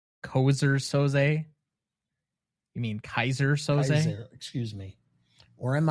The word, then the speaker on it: Keyser Söze: Or am I Keyser Söze? Keyser Söze? You mean Keyser Söze? Keyser, excuse me. Or am I Keyser Söze? Sure. After the mispronunciation, I think people would think you're more